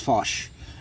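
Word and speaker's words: fàs: Gaelic or Scots Gaelic, the word fosh, and it's F-A with an S, so but it's pronounced fosh, and in Old Scots it means emptiness or void, and in modern Irish it means growth.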